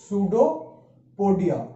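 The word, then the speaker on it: pseudopodia: अब सूडोपोडिया क्या होता है, इसको हम प्रोनाउंस करते हैं सूडोपोडिया। सूडोपोडिया पी जो होता है इसमें वो हमेशा साइलेंट होता है।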